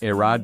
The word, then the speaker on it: Aehra: That's no surprise perhaps, given the Aehra, it's pronounced Aehra design team is headed by Italians Filippo Perini and Alessandro Serra, who both worked at Alfa Romeo and Lamborghini.